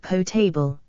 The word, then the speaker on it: potable: water fittings regulations 1999 potable pronounced potable from the French word meaning to drink the content of this